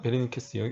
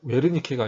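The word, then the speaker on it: Wernicke: 독일이니까 웨르니케가 아니라 베라고 V자 발음이에요.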